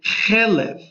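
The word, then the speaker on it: חֵלֶב: Chet, lamed, bet, and that is chelev. Chelev means fats.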